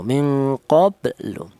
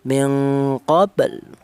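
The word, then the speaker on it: مِنْ قَبْلُ: minqobl jangan minqoblu jangan tapi eh mengucapkan huruf lam ya baru apa akan mengucapkan huruf lam tapi tidak sampai berharakat domah minqabl ya seperti itu hanya sisa saja ya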